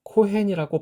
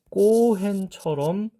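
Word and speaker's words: כֹּהֵן: 카프가 쓰여 있는 곳이에요 그래서 보통은이 단어를 코헨이라고 발음하기도 하고 제가 지금 이렇게 쓴 것처럼 음역할 때는 그냥 코헨이라고 쓴단 말이에요 그런데 실제로 유대인들이 이것을 읽는 것을 들어보면 거의 꼬핸처럼 발음을 하더라라는 겁니다 그렇다고 해서 진짜 쌍기역처럼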